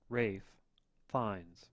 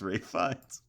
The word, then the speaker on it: Ralph Fiennes: Rafe Fiennes. What the fuck? It's Ray Fiennes. It's Rafe Fiennes.